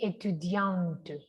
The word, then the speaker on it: étudiante: Mire que si es masculino, va la pronunciación hasta acá. Je suis étudiant, pero si es femenino, la T suena, no la E, la T.